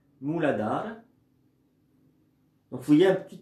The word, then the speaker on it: Mooladhara: Il suffit d'inspirer, prononcer mentalement, avec le A muet, Mooladhara.